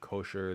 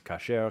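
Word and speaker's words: כשר: that I made, but it's not kosher. That's an American like reading pronunciation of an Ashkenazi pronunciation of a Yiddish pronunciation of a Hebrew word, and in modern Hebrew it's kasher, kshera, I guess ksherim, ksherot.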